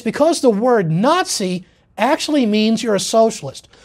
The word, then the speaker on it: Nazi: Now they took the first syllable from the first word, na, from nationalist. And then the first syllable of the second word is socialist, or the way a German-speaking person would pronounce that would be Sozialist. So you have na-zi.